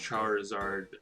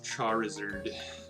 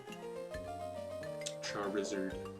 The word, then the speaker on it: Charizard: hive mind and if the hive mind says it's pronounced charizard there's gonna be a lot of people disagreeing with me but i'm going with charizard char wizard i don't know why